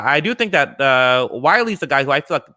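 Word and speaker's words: Wylie: them i have andrew wiley that's how you pronounce it right wiley yes uh andrew wiley who's sort of the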